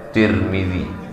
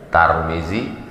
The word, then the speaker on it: Tirmidzi: sempurna sempurna hadits riwayat Tirmidzi boleh juga dibaca turning boleh juga dibaca Tarmizi tiga cara membacanya Tarmizi Tirmidzi turmudzi begitu dalam kitab Al